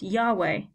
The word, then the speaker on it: Yahweh: a name for God the original Hebrew is written without any vowels so we don't know how this was pronounced at the time of writing but with the addition of vowels this is now pronounced Yahweh this became in German